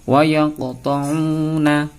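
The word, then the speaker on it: ويقطعون: Cara membacanya adalah dibaca mantul, ya, dimantulkan sebagaimana yang akan kita contohkan kali ini. Sebelumnya mari kita membaca basmalah terlebih dahulu. Bismillahirrahmanirrahim. Yang pertama, wa yaqta'una, wa yaqta'una, seperti itu. Jadi membacanya harus mantul.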